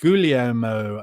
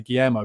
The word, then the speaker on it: Guglielmo: Ben Davis, James Maddison, Guglielmo Vicario, and Mickey van der Ven. How do you pronounce that? I usually say Guillermo, but it's not, is it? Guglielmo.